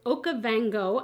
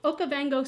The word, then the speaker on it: Okavango: is the new Nomad palette so it is okavango I had to just look at the pronunciation okavango Safari palette this look I wore my leopard